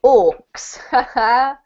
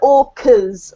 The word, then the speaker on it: orcas: these Waters well done now just be careful that you don't say Orcs because if you uh Orcs are very different from orcas in fact Orcs aren't real right but they're from Lord of the Rings yeah but in context it's quite funny if you say Orcs all right so these